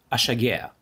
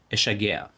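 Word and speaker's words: אֲשַׁגֵּעַ: В этом биньяне приставка алеф, по идее, должна всегда звучать как а, но в разговорной речи ее произносят как э. Поэтому чаще всего ты услышишь эшагеа.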